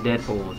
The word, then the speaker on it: Deadpool: stuff also i mentioned deadpool's in the show that night dang skippy where are my manners introductions call me deadpool it rhymes with no school season three he got